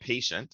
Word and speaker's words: Paytient: Um, I work for a company called Paytient. It's spelled with a Y, Paytient, and we have a solution as well that can be used to help manage that.